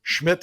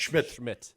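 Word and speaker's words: Szmyt: Schmidt, I believe, is that the proper pronunciation there, Zigura? Yes. Yes. Schmidt.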